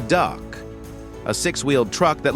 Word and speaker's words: DUKW: And of course, number 49, the DUKW pronounced the duck.